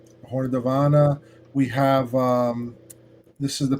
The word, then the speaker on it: Davana: Davana. It's Elven. Horn of Davana.